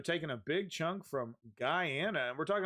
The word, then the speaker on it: Guyana: chunk of uh Ghana I think Ghana is how you say correctly chunk land from its neighbor Guyana in a dis that's been going on Guyana I knew I was saying that incorrectly um yeah so they're